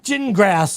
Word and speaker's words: Gingras: It's pronounced gin like you drink and grass like you mow. Jin grass like you mow.